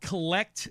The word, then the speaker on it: CLLCT: He founded a collectibles media site called Collect Media. Collect is spelled CLLCT. So it's basically collect without the vowels.